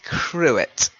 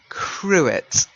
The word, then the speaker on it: cruet: And again, you've got that little thing, do I pronounce it the way a French person would pronounce it or not? So that would give you the choice of to pronounce the T or not.